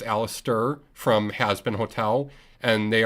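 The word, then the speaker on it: Alastor: we have uh aliser I said it right this time it's not alistor it's Alister from hasbin hotel and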